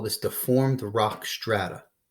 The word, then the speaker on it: strata: Well, if the rock layers are deformed, we call this deformed rock strata. Strat rhymes with flat.